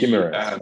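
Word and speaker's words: Guimarães: Guimaraes. Guimaraes.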